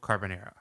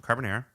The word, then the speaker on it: carbonara: I make a really good mussel carbonara.